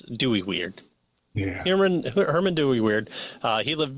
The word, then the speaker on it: Dooyeweerd: And so 1894 to 1977 is when I think you pronounce it like Dooyeweerd. The W is pronounced as a V, I think, in German.